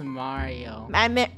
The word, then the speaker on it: Mario: wrong what I am here diario why it's Mario oh wow I'm the main character of the